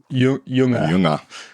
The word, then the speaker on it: Jünger: of forest passage by Ernst younger how's my pronunciation there Luke it's it's getting there it's getting there say it in true German you know Ernst younger okay got it um